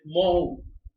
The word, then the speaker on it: Mhow: Jalandhar in Punjab and Mhow, MHOW, Mhow is pronunciation, and it is also famous.